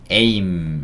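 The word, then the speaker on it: aim: 바로 'ay' 라고 읽을 수 있죠 ? ' 에이 ' 라고 읽으세요 . M 의 경우 , 'm' 발음 입니다 . 'm' 발음 . 마지막 자음 으로 'm' 소리 를 넣을 수 있습니다 . 목표 . ' 에임 ' 처럼 발음 하시면 되고 , 앞 으로 모든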